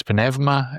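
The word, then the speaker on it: πνεύμα: You have the pneuma, which is pneuma, as the Greeks pronounce it, which is the spirit.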